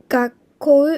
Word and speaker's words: 学校: 学校う、学校。このうも 5尾のうなのでしっかり発音しなくて大丈夫です。